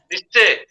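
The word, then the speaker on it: Nietzsche: किए कथा कहिथिले negation of voluntary association के कहिथिले फिलोसोफर को फिलोसोफर अभिमन्यु निश्चय फिलोसोफर ना तांगा नाम होची निश्चय बुझेला निश्चय निश्चय निश्चय स्पेलिंग होची स्पेलिंग मु डाकी दोती लिख तांकर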